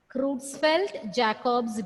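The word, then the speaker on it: Creutzfeldt-Jakob: jacob's disease that's the name of the disease crootsfeld jacob's disease so bovine spongy form encephalopathy encephalopathy in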